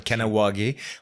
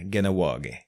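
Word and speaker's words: Kahnawake: C'est comme Kanawagé. On devrait dire Ganawagé.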